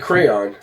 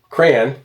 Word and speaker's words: crayon: It's not one syllable. It's two syllables. Crayon. It's two syllables. Cray crayon. It's two syllables. It's two syllables. You eat crayons. It's two syllables. You don't draw with cray.